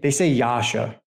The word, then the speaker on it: Yasha: So it transliterates this way, I-S-O, but they say Yasha. They don't pronounce it like the way it looks in English, but just going to